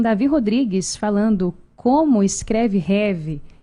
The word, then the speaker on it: Rêve: REV, gente, vem de sonho, sonhar em francês. Por isso que essa pronúncia é diferente mesmo, não é rêve, né?